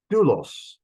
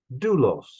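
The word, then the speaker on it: δοῦλος: Doulos, ho. Doulos, ho, a slave. That is a circumflex over the upsilon, and the omicron upsilon is a diphthong. It's one sound, and it's treated as one syllable.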